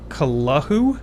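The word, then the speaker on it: Cthulhu: Oh God, H.P. Lovecraft said it should be pronounced Kalahu?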